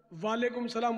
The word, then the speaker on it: وعلیکم السلام: اس طرح وعلیکم السلام بولے گا جب بھی جواب بھی ادا نہیں ہوگا، واجب کا تاریخ بنے گا، یہ تو محمل سا جملہ ہو گیا.